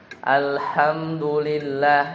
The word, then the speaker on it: Alhamdulillah: Bacanya H kecil ya. Jadi harusnya dibaca ya. Alhamdulillah ya, harusnya alhamdulillah H kecil ya. H kecil. Alhamdulillah.